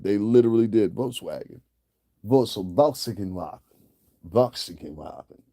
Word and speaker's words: Volkswagen: Voxinwagon. That's how you pronounce this Voxinwagon. Volkswagen. Voxinwagon. I had a German person teach me that.